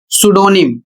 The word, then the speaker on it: pseudonym: और इसे पढ़ा जाएगा सुडोनिम, जबकि यहां पर बहुत से लोग गलत पढ़ते हैं, पी का भी उच्चारण कर देते हैं।